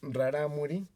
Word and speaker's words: Rarámuri: sí, porque ellos se autodenominan rarámuri o ralámuli, porque tienen ellos una consonante que suena entre R y L, muy difícil de pronunciar para nosotros, pero sobre todo en las partes de las barrancas lo tienen más marcado hacia la L, entonces son ralámulis.